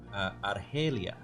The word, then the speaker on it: Argelia: But it's actually a country name, but it's how you pronounce it in Spanish, apparently. So Mm-hmm.